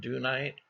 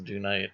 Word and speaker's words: dunite: Some people call it Dunite. And I read somewhere that there's British pronunciation is dunite and American rep uh pronunciation is dunite. So whether that's true or not, I don't know.